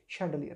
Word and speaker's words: chandelier: इस तरह से स्पेलिंग भी याद रहेगी इसकी, लेकिन पढ़ेंगे कैसे? शैंडलियर।